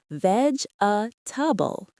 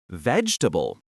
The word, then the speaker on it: vegetable: You are pronouncing every single syllable clearly, Mark. Four syllables. Vegouble. But when we speak quickly, we almost always cut the middle vowel out. We reduce the word down to just three syllables. Vegetable. That middle e sound virtually disappears and the a becomes a softwah sound. Try emphasizing the first syllable and swallowing the rest of the word.